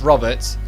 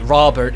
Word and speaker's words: Robert: I hate to break it to you, but it's not spelled R-A-W, it's spelled R-O-B, as in robot. I have no idea why that pronunciation of putting it Robert is so common in the US, despite how wrong it is.